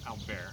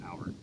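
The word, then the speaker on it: Appert: back to france there's a guy named nicholas alvarez i think that's how you pronounce it it's not it's albert but it's nicholas albert in 1822 he developed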